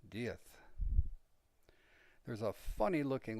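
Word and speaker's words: diez: germany they pronounce it very reminiscent of the situation in spain where they have a castilian lisp the guy's last name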